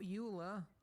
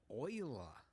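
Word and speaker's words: Euler: Not uler oiler.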